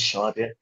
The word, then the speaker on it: Shaurya: Yeah, my name is Shaurya. Oh, it's pronounced Shaurya. Okay, I missed the H there, so Yeah.